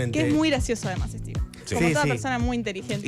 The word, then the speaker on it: Stephen: Steven en realidad es sí se pronuncia Steven. Steven le decían de chiquito, no se decen, pero para nosotros es Stepen siempre, pero es Steven King, eh, así que nada,